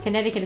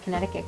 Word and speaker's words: Connecticut: look up why uh Connecticut is spelled that way even though it doesn't make sense have a silent c in there yeah hm